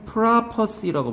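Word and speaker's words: prophecy: 얘는 프라퍼시라고 발음하고요.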